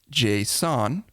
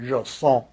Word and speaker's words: JSON: Well, some people pronounce it JSON, and other people pronounce it Jason, like the name. But you know what? It doesn't matter. Even Doug doesn't care. There's a lot of argument about how you pronounce that. I strictly don't care. I think probably the correct pronunciation is JSON.